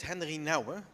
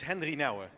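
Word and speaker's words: Henri Nouwen: Did I pronounce his name right? No. But that's okay. No one does in this country, so don't worry about it. It's Henry Nouwen, if you want to know.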